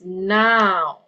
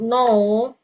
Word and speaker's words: now: 12 oke any number 12 the word is now oke not know oke Oke.